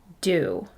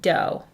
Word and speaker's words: do: So it seems this word should be dough, but it's not. The O says ooh. Say it with me.